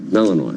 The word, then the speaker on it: Malinois: Malinois.